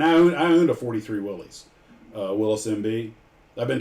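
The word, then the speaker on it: Willys: And I I own a 43 Willies. Uh Willis MB. I've been told it's pronounced Willis, not Willies.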